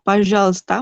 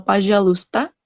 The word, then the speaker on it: пожалуйста: Lalu untuk пожалуйста mungkin karena untuk mempermudah pengucapan aja. Kalau пожалуйста itu kayak agak lebih panjang. Jadi mereka ininya kadang nggak kebaca nih UI-nya. Пожалуйста saja. Пожалуйста, пожалуйста.